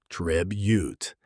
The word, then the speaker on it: tribute: Pronunciation stress on the first syllable. Tribute. Keep that first vowel short and sharp.